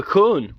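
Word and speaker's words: Colne: we've got the river cone but we we pronounce it c-o-l-n-e but it's it's corn you know and and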